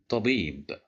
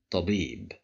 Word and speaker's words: طبيب: طبيب طبيب طبيب. Here we have the letter ba controlled by kasra and followed by ya, so that's why we'll pronounce it with a long vowel.